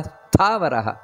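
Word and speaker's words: ಸ್ಥಾವರಃ: ನೋಡಿಕೊಂಡು ಹೇಳಬೇಕಾದದ್ದು ನೋಡಿ ವಿಸ್ತಾರ ಸ್ಥಾವರಹ ಸ್ಥಾ ಅನ್ನುವುದು ಮಹಾಪ್ರಾಣ ಮತ್ತೆ ವಿಸ್ತಾರ ರಹ ಅಲ್ಲಿ ವಿಸರ್ಗ ಇದೆ ವಿಸ್ತಾರ ಸ್ಥಾವರ ಸ್ಥಾನು ನೋಡಿ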